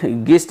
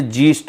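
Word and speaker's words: gist: एट द जीस्ट है, sorry गिस्ट नहीं है दोस्तों, ये जीस्ट है, ठीक है, जीस्ट।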